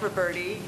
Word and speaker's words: Roberti: Roberti regarding the Roberti Community House am I pronouncing that correctly yes ma'am go ahead that next was going to actually um present for us but my name is Roberti and I'm the president